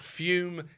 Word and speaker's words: Fume: This episode is sponsored by Fume Zero. That's fume pronounced fume spelled fu m.